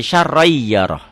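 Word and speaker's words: شَرًّا يَرَهُ: Syarron jadi syarrai yaroh. Ya, tulisan dan bacaan beda.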